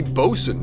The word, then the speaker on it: boatswain: Hoffman, the boatswain. What is... it'd be bosun normally, but I'm guessing that's not how you pronounce it in Deutsch.